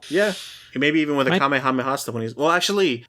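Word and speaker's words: かめはめ波: But no, when the final one, he's like Kamehameha like that. Like instead of like emphasizing different syllables of Kamehameha like the Japanese usually do, they say it the American way with emphasis.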